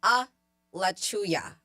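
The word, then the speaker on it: Alachua: thank you for any the county is pronounced a lauya I'm still going to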